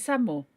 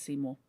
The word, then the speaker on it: Seymour: Oh, is it Samour? I wasn't sure about the second pronunciation. Okay, that becomes Seymour. Okay, thank you for that, Chrono.